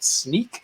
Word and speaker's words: Snyk: I am a Principal Solution Specialist at Snyk, and it is pronounced like sneaking around or a pair of sneakers.